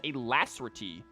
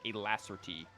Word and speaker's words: alacrity: has it as alacrity i have always heard it as a lazerty that is fascinating that this one is a different pronunciation than what i have heard before i wonder if this is like a american pronunciation versus a british pronunciation because i have pretty